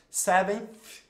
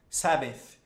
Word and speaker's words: seventh: Seventh, seventh, seventh, seventh. Eu tô olhando aqui no espelho, tá, gente? Seventh, seventh. É só isso. Segura a língua e sopra, ó.